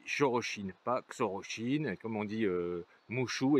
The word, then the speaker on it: Xorroxin: chine puisque dans le pays basque dx se prononce ce mardi on dire on y cherche inpacq soro chine comme on dit moche ou et pam oms